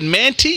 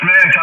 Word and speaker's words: Manti: over there in man is that manty Utah that Roger well it's pronounced Manti but I'm actually in